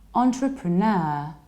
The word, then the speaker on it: entrepreneur: It's not entre, but entre. Entrepre, you reduce pr, and then you have a long ner. Entrepreneur, entrepreneur. And you stress the last syllable, entrepreneur.